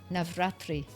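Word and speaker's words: Navratri: Basically for Navatri.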